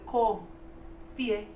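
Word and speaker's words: kɔ fie: So, again, the verb is low tone. He said ko fie. It went up for fie.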